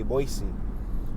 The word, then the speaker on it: Boise: continue moving forward so boise which it looks like it's spelled boyce but if you look up how it's pronounced and i was listening on the radio they say boise we're at six and